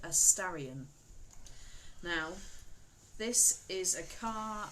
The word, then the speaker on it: Starion: Spelled Starion. Starion. Starion. Starion, like the horse.